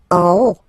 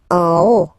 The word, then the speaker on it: en haut: En haut, en haut. Okay, final T not pronounced, and then this H as previously, you don't pronounce it, so this is O.